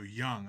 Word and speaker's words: Jung: Card number It's Young. The J sounds Young, like a not Jung.